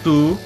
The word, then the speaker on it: Touhou: Moi je dis tout, mais je pense qu'officiellement ça se prononce Toho.